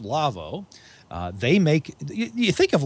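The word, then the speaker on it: Lawo: manufacturer from germany their website is la wo pronounced lavo they make you think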